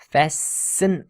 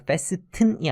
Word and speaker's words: fasten: Inventing an all-purpose fastener. 여기 발음을 잘 하시기 바라요. 우리 왜 안전 자동차를 타면 벨트를 매죠. 그런 걸 fasten your seat belt라고 하는데 발음에서 여기 T가 묵음입니다. 그래서 fasten이 아니라 fasten입니다.